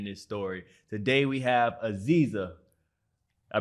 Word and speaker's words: Aziza: Today, we have Aziza. I pronounced it right, correct? Yes, Aziza.